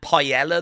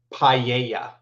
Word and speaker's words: paella: I'm fairly confident it's that paella that I tried. Uh, it's pronounced paella. Paella. Okay. What did you say? Pella.